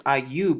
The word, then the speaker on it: Ayub: and i you because ayub is how you would say his name in the yaudiath hebrew language as well as in arabic we've already gone over